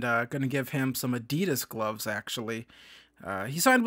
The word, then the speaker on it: Adidas: this other YouTube channel they always say Adias and instead of Adidas I think that's more of the American pronunciation of that but we